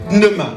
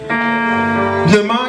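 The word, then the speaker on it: pneuma: Et le mot en grec veut dire pneema. Pnema qui s'écrit p n e u m a.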